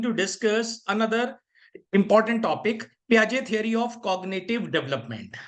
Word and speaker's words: Piaget: Okay, you have to pronounce Piaget.